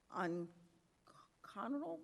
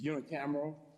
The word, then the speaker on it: unicameral: Whereas the North Carolina Senior Tar Heel Legislature, NCSTHL, is unique, serving as a bipartisan unconventional body. Is that pronounce that? By say it again. It's unicameral.